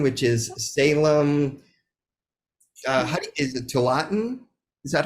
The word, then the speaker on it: Tualatin: Is it Tualatin? Is that how you say it? Wallace. Tualatin.